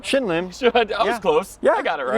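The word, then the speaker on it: Shin Lim: Shim Linn.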